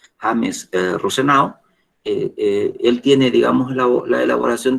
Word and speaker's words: Rosenau: Hay otro autor, James Rosenau, así como lo estoy pronunciando, James Rosenau.